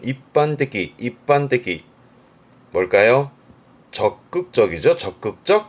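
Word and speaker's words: 一般的: 일반적, 발음은 입반떼기.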